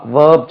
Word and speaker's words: verb: வேர்ப் என்று உச்சரிக்கிறதுக்கு VERB, அந்த வேர்ப் சொல்கிறதுக்கு வி நீங்கள் உச்சரிக்கும் போது மேலே உள்ள பற்கள் கீழே உள்ள உதட்டில் பட வேண்டும். வேர்ப், வேர்ப், நம்ம வர்பு பாருங்கள், வேர்ப். அந்த தொண்டையில் கை வச்சு பாருங்கள், இங்கே என்ற ஒரு பஸ்ஸிங் சவுண்ட் வரும்.